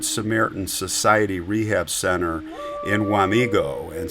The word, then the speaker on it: Wamego: So she went into the Good Samaritan Society Rehab Center in Wamego, and some, by the way, pronounce it Wamago.